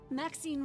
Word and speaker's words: Maxine: Maxine rhymes with queen.